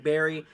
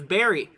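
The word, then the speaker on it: Barre: let's go to your Daniel says it's pronounced like Barry um oh okay I got you so it's berry berry Massachusetts gotcha okay so yeah Barry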